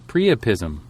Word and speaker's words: priapism: No, it's pronounced Priapism. Priapism.